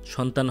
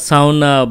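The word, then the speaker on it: sauna: সোনা বা সাওনা বা জাওনা, যাই আপনারা উচ্চারণ করেন না কেন, জার্মান উচ্চারণ আসলে জাওনা বলে, আমার কাছে জাওনা শব্দটা ভালোই লাগে, খুব সহজ উচ্চারণ করা যায়।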